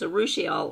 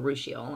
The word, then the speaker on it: urushiol: It's got urushiol, hard to pronounce. It's urushiol or urushiol, either way.